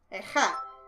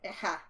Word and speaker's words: Ageha: Eha. I guess you don't say the G. Eha.